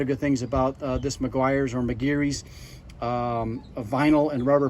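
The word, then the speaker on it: Meguiar's: This is Maguire's, or my wife and I, we lived in Ireland for many years, and we actually would pronounce that McGeary's.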